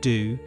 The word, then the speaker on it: Do: Apple White, who increasingly went by the name do, pronounced like the musical note, established what he called the classroom.